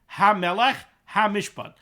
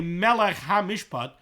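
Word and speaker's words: המלך המשפט: We have two heys here, HaMelech HaMishpat, not HaMelech Mishpat. v'yizaher bazeh. And the Chavetz Chaim says we should take great care to pronounce this properly. Because there are those that say that if you say it wrong, if you say melech ha-mishpat, not ha-melech ha-mishpat, you're not yoytza.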